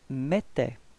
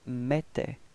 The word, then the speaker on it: mettait: Repeat, elle mettait. Okay, for the pronunciation, remember that then when you've got this two T right after the E, it does give you the pronunciation for the E, it's open, it's E, E, okay?